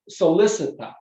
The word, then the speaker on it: solicitat: semper ridet, semper loquitur, semper solicitat, I should say, hard C in Latin, which means always dance, always ridet, always laugh, always speak clearly, locutors speak, always solicitat.